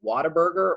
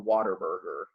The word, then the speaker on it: Whataburger: Do you say Whataburger or Waterburger? I'm gonna get some Whataburger.